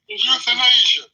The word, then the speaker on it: euthanasia: I can't pronounce that. Euthanasia.